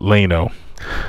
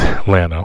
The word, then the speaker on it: Atlanta: are in Atlanta and thank you to the gentleman who told me I was pronouncing uh Atlanta wrong I used to call it Lano it's Atlanta so just in case